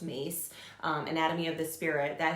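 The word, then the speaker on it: Myss: There is an excellent book, Carroll Mace, it's spelled M-Y-S-S is her last name, but pronounced Mace, Anatomy of the Spirit.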